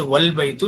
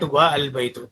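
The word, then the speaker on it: وَالْبَيْتُ: Okay, here the a is pronounced, but if it is specified by va meaning and the a is dropped and the phrase is pronounced wal baitu, not va al baitu.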